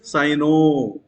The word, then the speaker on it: cyano: When a negative ligand is there, we have to pronounce as O sound. We have to pronounce with O sound.